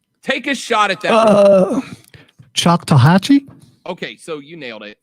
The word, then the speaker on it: Choctawhatchee: Bonzo, in the chat box on the live stream, right there, do me a favor, pronounce that word for me the best you can. Take a shot at that. Choctawhatchee?